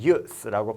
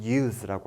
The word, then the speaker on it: use: 그 다음에 1565번을 보고 넘어갈 건데 use는 지금 발음 기호표가 나와 있죠. use 그리고 use라고 해서 이 뒤에 발음을 어떻게 끝내느냐에 차이가 있어요. 사용, 쓸모, 이용이라는 명사로 쓰일 때는 use라고 발음을 하고 사용하다, 이용하다와 같이 동사로 얘기할 때는 use라고 합니다. 이렇게 형용사, 명사냐 동사냐에 따라서 발음이 달라지거나 강세가 달라지는 단어들이 있어요.